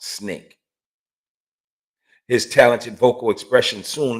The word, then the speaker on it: SNCC: his dissatisfaction with the treatment of blacks in america prompted him to join the student nonviolent coordinating committee the sncc pronounced snake his talented vocal expression